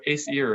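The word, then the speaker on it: Aesir: be do you say acer what is it how do you say that word a seer yeah so ace ear is it's like the an ace card in ear um yeah that's why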